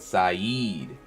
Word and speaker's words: Saeed: I feel you on pronunciation. I got you. My bad, Saeed.